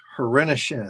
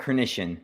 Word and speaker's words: Hrenishin: But this is a great opportunity to welcome Hrenishin. Did I say it right? Close. It's Hrenishin, but no worries. Everyone messes it up.